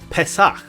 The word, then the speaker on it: Pesach: It's our final letter that's pronounced differently with a dagesh, and with the dagesh, it's pronounced with a P sound. One example is Pesach, meaning Passover.